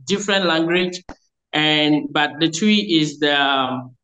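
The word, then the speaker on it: Twi: w i twe that is how the Americans pronounce it twe but we pronounce it as twe okay so that is the most popular language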